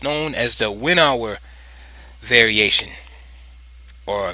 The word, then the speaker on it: Winawer: it's known as the Winawer variation, or Winawer, if you want to pronounce it in the German or Dutch way.